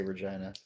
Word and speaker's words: Regina: get a costume of Regina for Jill. Yeah. I always say Regina. Isn't that how they say her name? No, it's Regina. I swear to God, they say Regina.